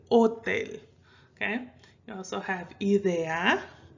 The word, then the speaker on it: hotel: have words like sofa hotel remember the h is silent okay so you don't pronounce it hotel you say hotel okay you also have